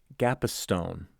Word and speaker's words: Gapastione: kind of interesting because you pronounced your last name gapa Stone right but when I